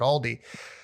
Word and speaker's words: Aldi: Like so many people say Aldi's. Like there's no Aldi's. It's Aldi. There's no S.